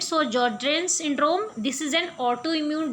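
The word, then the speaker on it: Sjögren: So in this S is silent. So Sjogren syndrome, this is an autoimmune disease which cause deposit of immunocomplex in the glomeruli, causing them to be inflamed.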